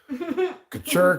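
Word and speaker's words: Kutcher: I mean, may the Kucher Kunis be ever in your favor. Accent goes on the second syllable. Oh. Kucher Kunis. Kucher Kunis. Kucher Kunis. Couture. Couture Kunis.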